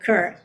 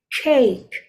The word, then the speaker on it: cake: I don't know, there is kind of R in there when you pronounce it. It's like kirk or crack or something like that, but it's cake, cake.